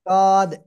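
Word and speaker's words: ض: কোন জায়গায় লাগবে না জিহ্বার গোড়ার কিনারা উপরে মানি দাঁতের গোড়ার সাথে লাগাতে হবে লাগিয়ে উচ্চারণ করতে হবে জদ বা জদ এরকম বললেও হবে সমস্যা নাই ঠিক আছে তবে জিহ্বার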